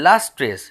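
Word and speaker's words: lustrous: বৃত্তগুলি তারপরের লাইন দেখো লাস্ট্রেস উচ্চারণটা হচ্ছে লাস্ট্রেস তারপরে টোকেন অফ রেডিয়েন্ট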